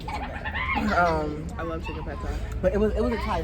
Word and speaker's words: pad thai: Chicken pate. Chicken pad thai? Is it pate? I don't know how it's spelled. I just assumed it was pronounced pate. Yeah, it's pad thai.